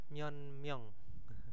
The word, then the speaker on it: 몇 명: Myeonmyeong itu itu ya, kosakatanya maksudnya pelafalannya itu lebih ke n ya.